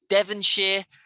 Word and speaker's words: Devonshire: a few things now you know how to do shire isn't shy but sure like yorkshire a lot lots and lots there's yorkshire there's hampshire there's um i don't know devonshire all of these things have a sheer sound now promise me you're